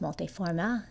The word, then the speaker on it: multiforme: It's pronounced multiforme. It's got the little E at the end.